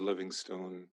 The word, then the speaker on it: Livingstone: i'm david livingstone not stone david livingston smith stun smith and yeah that's how i pronounce it david livingston smith there's another david